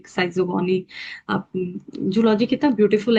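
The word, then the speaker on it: schizogony: अब ये कहाँ से आ गया सिजोगोनी, साइजोगोनी।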